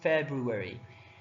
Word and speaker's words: February: should have a February some people they don't misspell the word only they also don't know how to pronounce it for brewery you have to say February and it's spell it